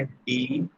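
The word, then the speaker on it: ∂: ये जो डॉ सिंबल यूज करते हैं इसका प्रोनाउंसिएशन है डी ए यू। ये जो सिंबल है दिस इज रेड एज डॉ, ठीक है?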